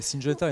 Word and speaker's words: Syngenta: Syngenta, est-ce que je l'ai bien prononcé, Laurent? Tout à fait, Syngenta et non pas Syngenta.